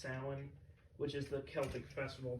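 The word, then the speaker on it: Samhain: be named after the mispronunciation of uh like Sam Hayne which is actually pronounced Salin which is the Celtic Festival that inspired what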